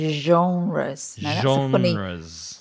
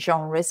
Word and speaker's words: genre: from French and so we try as English people to pronounce it in a French way and the pronunciation isre